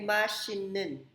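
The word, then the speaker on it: machine noun: Pero di ba may rules tayo na lahat ng T, pag nasundan ng M or N, ang T ay napopronounce as N. Naturo ko yan sa inyo. Kaya ang basa dyan ay hindi mashit nun. Ang basa dyan ay mashinin. Machine. Yung T magiging N ang sound.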